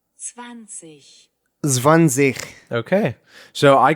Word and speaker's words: zwanzig: and it is pronounced. 20. Zwanzig.